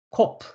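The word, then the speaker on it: קוף: 태양이라는 의미를 가지고 있는 코프 코프 코프라고 하고요네 키역 발음을 하고 있습니다 그래서 코 코네 히 발음이 첨가되 있습니다 그래서 코프 코프 그다음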